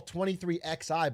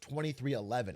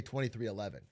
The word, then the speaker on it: 23XI: The team I call 23xi but it's pronounced 2311. I was reading the Roman numeral but real NASCAR heads just say 2311.